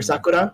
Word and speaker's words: Sakura: play for me is actually sakura or sakura if you want to say it properly but if you know